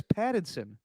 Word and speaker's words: Pattinson: You sound like you're saying Paddington. Like the movie with the bear. I'm not saying the bear, it's Pattinson. Okay. Keep going on about Pattinson. Is it coming out like I'm saying Pattinson? You do that with all your T's.